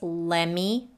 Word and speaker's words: lemme: And let me becomes lemme, the T is dropped here.